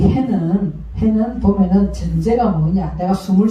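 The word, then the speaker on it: ה: 그래서 음가는 해니까 히읗으로 나오는 히읗.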